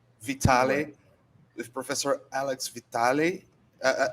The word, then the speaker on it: Vitale: your name alex vitale vitale or vitali vitale with professor alex vitale